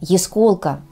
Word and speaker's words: ясколка: такая слегка Сизова Тая я встречала произношение этого слова с ударением на первых слух то есть ясколка а не ясколка что конечно же является неверным правильное произношение ясколка так же как и яснотка а не яснотка Запомните ясколка яснотка